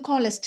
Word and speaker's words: calloused: அத நம்ம வந்து காலஸ்ட் அப்படின்னு நம்ம சொல்லுவோம். இந்த ஸ்பெல்லிங் பாருங்க. பட் ப்ரொனவுன்ஸ் பண்றப்ப இத காலஸ்ட் இட்டுன்ற மாரி கடைசில வர மாரி நம்ம ப்ரொனவுன்ஸ் பண்ணுவோம்.